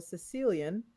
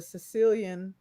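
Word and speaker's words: caecilian: this uh there is a creature called a sicilian not like from the island of Sicily it's spelled with a c-a-e Sicilian and one of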